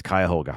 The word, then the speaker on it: Cuyahoga: So there we go, it's Cuyahoga.